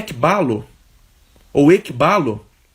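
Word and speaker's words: ἐκβάλλω: a mensagem do Reino é a palavra grega ébalo né ou equibalo me corrijam aí na pronúncia esse k b a 2l e o esse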